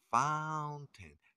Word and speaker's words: fountain: esta palabra en inglés se pronuncia Found Time no se pronuncian la a y como si fuera una e fountain Qué quiere decir pues